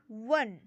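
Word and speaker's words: one: है वल होता है पर इसका उच्चारण क्या है वन व से उच्चारण हो रहा है व से।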